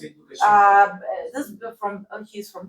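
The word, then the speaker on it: Лукашенко: So you pronounce it Lukashenko.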